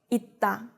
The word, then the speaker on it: 있다: Remember that 받침 쌍시옷 is read the same as 디귿 when it's in the 받침, so you need to remember to apply this rule here, 있다.